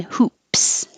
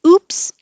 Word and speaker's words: hoop: same hoop and hoops the h is heard just by airflow you make air hoop hoops if you don't have the h it will sound like oops because we just start with the vowel ooh oops i made